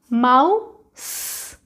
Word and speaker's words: mouse: In the same case of this word also. Ow, mouse, mouse, mouse. In this word also, this letter sound E is silent. हम इसकी sound नहीं बोलेंगे. Mouse, mouse, but we have to write this letter, but there is no sound.